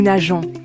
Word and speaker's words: nageons: she, one, swims, nous nageons, we swim. Notice the e before ons to keep the soft g sound.